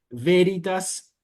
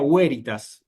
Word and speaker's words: veritas: Bueno, el romano clásico, por ejemplo, no decía veritas, ¿verdad?, sino que decía huéritas.